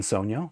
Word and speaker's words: Sogno: below head over to Squig link type in Sono which is spelled like this and this is a frequency